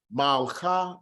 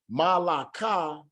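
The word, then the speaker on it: מלכה: It's going to be malcha, malcha. Here the shiwa follows a short vowel, and so we do not vocalize the shiwa itself. Instead, it forms part of the first syllable. It is not going to be malaka, and it's instead malcha, malcha.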